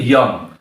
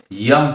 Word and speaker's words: যঙ্: উচ্চারণটা কিন্তু ইয়ং। তোমরা হয়তো বলবে যে স্যার এখানে তো অন্তস্থ জ আছে সেহেতু জং হবে তা না। সংস্কৃত ভাষায় অন্তস্থ জটা ইয়া উচ্চারণ হয়। এজন্য উচ্চারণটা হবে ইয়াম প্রত্যয়।